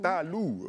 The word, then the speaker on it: Talou: parle parce queou mais c'est Talou mon frère faut prononcer Talou ok d'accord émotion après